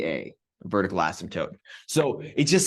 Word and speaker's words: asymptote: a vertical asymptote and I know it looks like asymptote but that p is silent and it's not an asymptote it's an asymptote my wife always gets